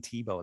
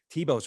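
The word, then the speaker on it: Thiebaud: but what's really interesting is it's actually wayne tebow that was my main influence back then wayne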